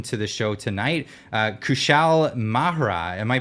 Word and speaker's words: Kushal Mehra: love to welcome to the show tonight uh kushal mahra am I pronouncing that correct it's mea kushel mea hey Clyde thanks for having me over Namaste